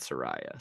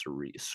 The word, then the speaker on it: Syuri: Yeah, it's not Soraya. So it's Suri. Okay, good. I'm just awful with pronunciation.